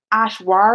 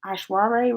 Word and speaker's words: Aishwarya: her how did when you say her name a schwa ray Aishwarya ray right oh this sounds like a good